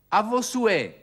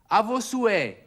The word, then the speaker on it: À vos souhaits: Sie stellen fest, ich spreche das H nicht aus. Die französische Sprache kennt keinen H-Laut. Sagen Sie es mal. À vos souhaits. À vos souhaits.